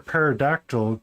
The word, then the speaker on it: pterodactyl: Why can't you hear a parodactyl go to the bathroom? Because the P is silent.